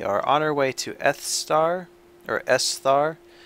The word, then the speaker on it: Esthar: It's a weird pronunciation. I don't really like the way it's spelled. I always wanted to call it Esther, even though I know that that's not how to pronounce it.